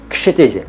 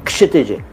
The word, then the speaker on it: क्षितिज: कोई बोलता होगा क्षितिज, कोई कहता होगा क्षितिज। दोनों गलत हैं, क्योंकि आप जानते हैं लेकिन सब नहीं जानते कि आपके नाम का सही उच्चारण है क्षितिज। क्षितिज, के से स्टार्ट करिए, क्षितिज क्षितिज क्षितिज।